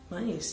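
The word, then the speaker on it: maïs: Misalnya kata me itu dilafalkan dengan me, sedangkan mais itu ya dilafalkan mais ya karena ada bentuk umlaut di sana pada huruf i-nya atau terdapat dua titik pada huruf i.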